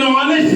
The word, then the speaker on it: honest: In honest, sir, I think H is silent, sir.